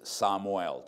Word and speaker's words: Samuel: I have an unusual name, not when you first hear it or read it, it's Samuel, but the Hispanic pronunciation, all the vowels are flat and long, is Samuel.